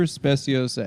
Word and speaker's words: Speciosa: This is the super speciosa ad read. That's what it says at the top. Spiosa is pronounced specio.